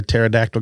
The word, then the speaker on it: pterodactyl: How come you can't hear a pterodactyl go to the bathroom? Why? Cuz the P is silent.